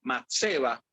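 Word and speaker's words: מצבה: Entonces, cuando buscamos esa palabra, en específico estatua, según la concordancia Strong, ¿verdad?, en hebreo se pronuncia matseba, lo cual significa, hace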